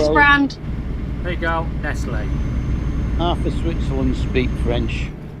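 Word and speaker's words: Nestlé: with a French accent over the E, Yeah, it was which is rebranding.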